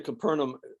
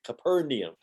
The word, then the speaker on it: Capernaum: returned to Capernaum Capernaum this has been bugging me for some time it's not Capernaum it's Capernaum go look it up online where that guy from Israel will tell you how to pronounce it capernium not caperna okay when he returned to